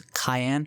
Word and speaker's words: Cyan: back to their encampment I'm aware that Canan is pronounced as Cayenne in Japanese just like the pepper as he seems to